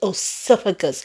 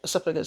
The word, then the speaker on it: esophagus: where she said you want my esophagus said pronounce it again oopagus. He didn't know how to pronounce esophagus.